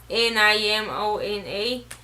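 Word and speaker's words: Nimona: death I read namana I know how to pronounce ni mo na ah have you hear this one already I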